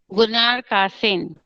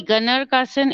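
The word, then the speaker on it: Gunnar Kaasen: Gunnar Kasen. Gunnar Kasen. Okay, it could be Gunnar Kasen. It can be pronounced as Gunnar Kasen also.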